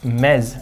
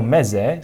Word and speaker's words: Meze: So, these are the MEZE.